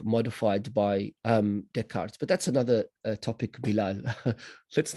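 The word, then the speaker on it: Descartes: Deart. The S is silent.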